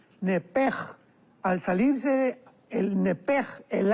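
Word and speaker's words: נפש: Entonces, la pronunciación hebrea es nepej.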